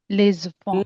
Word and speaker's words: les enfants: les enfants les enfants les enfants les enfants I'm so glad you use liaison. We link the sounds.